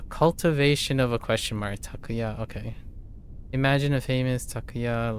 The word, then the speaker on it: Takuya: So, this is what I mean by atamadaka or proper nouns when they're three syllables longer. Takuya as opposed to takuya, which is how I'm encoding it first and then adjusting most of the time.